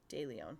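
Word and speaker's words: De Leon: DeLeon, like of Leon.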